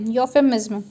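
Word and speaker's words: euphemism: जैसे इसका प्रोनाउंसिएशन होगा YOO योफू MIZM यूफेमिज्म। ठीक है दोस्तों, चलिए आगे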